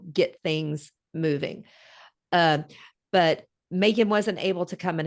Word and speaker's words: Magen: right right right so Megan did admit and just so you know her name is spelled the strangest way every time I look at it m-a-g-e-n but it's pronounced Macon I mean Megan yeah that is quite